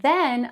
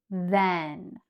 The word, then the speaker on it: then: And here we have the word than, which is different from then, right? We have then than.